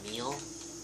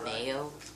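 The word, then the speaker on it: Emile: I'm like, his name is pronounced Emil, not Ameo.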